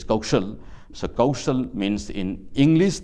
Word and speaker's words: Kaushal: And Kaushal in Hindi, this stands for Ka Uki Matra Sa La. This is how we pronounce this Kaushal.